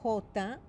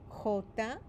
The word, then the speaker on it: jota: When we first learned the letters, the letter J is pronounced jota, jota. But when you see it in a word in Spanish, it sounds like the English letter H.